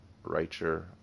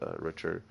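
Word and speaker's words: Richter: the richer or yeah richer and or writer however you want to pronounce it I pronounce it richer uh and Kaiser Ker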